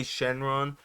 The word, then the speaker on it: Shenron: that's Shenron it's Shen it's spelled shenlong in the manga but it's they say Shenron there are some things